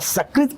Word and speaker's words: सकृत: शकृत कहेंगे तो शकृत माने ये मल, गंदगी। और सकृत कहेंगे तो एक।